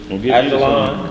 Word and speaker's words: Ajalon: And thou moon in the valley of, how you pronounce that? Ajalon.